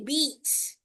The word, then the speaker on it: beats: Short eye vowel sound yung narinig ko eh. Dapat long e. Okay? To beats.